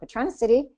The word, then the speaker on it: Patronicity: Patronicity is, am I pronouncing that right, Jonathan?